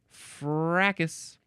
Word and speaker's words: fracas: what the fake voice, how they pronounce it. Fracas. Fracas. Yep. They have no need for that S at the end until it's plural, until there are multiple smashes, multiple crashes, multiple shatters, multiple brawls.